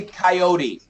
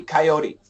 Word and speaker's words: coyote: I'm going to teach it's actually coyote with a flat T coyote coyote perfect um let's do